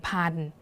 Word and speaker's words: พันธุ์: ตัว นี้ นะ คะ เรา ก็ จะ อ่าน เพียง แค่ ว่า ผ่าน ที นี้ ลอง มา